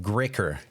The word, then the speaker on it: GREÅKER: I believe this is pronounced GREÅKER.